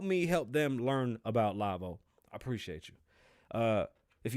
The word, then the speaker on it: Lavoe: k-l-k-l-a-v-o-e dot com um i have to spell it because for some reason everybody hears k-love or they think that's what it is it's lavo l-a-v-o-e so it's k-l-a-v-o-e dot